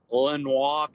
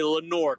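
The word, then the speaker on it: Lenoir: junkies fellow North Carolinian here lenois County yeah no uhuh nobody speaking French up there in North Carolina damn right yeah that be Lenor County Lenor Lenor Lenor Len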